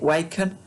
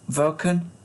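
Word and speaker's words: Wacken: the name of this german town i was pronouncing it wacon which sounds like waco um but it is actually pronounced vulcan apparently which which would sound v okay en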